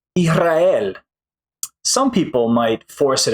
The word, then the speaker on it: Israel: R what happens is the S kind of disappears but it actually becomes more like a Spanish J or an English H right so I'll give